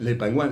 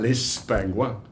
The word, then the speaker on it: les pingouins: El bautizar un abstract como los pingüinos, les pingouins, les pingouins, hay que pronunciarlo así, ¿verdad?